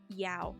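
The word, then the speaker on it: dao: Our D can be pronounced like a duh, or it could sound like a yeah. So it can sound like a D pronunciation, or it can sound like a Y pronunciation. It depends on the accent.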